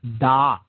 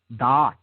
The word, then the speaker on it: Da'at: It is positioned in what is called the realm of Da'at. Da'at. Okay? D-A-A-T or D-A-A-T-H. Okay? Depending on how, different schools of Kabbalah spell it.